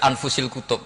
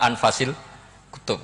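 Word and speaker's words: أنفس الكتب: Di sini ditulis anfusil kutub. Kalau saya baca anfasil kutub karena maknanya kitab terbaik. Kalau kitab terbaik bacanya bukan anfus tapi apa? Anfas.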